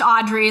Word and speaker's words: Audriix: So it's a silent X, double I. So it's pronounced Audrey, like Audrey Hepburn, but Audriix.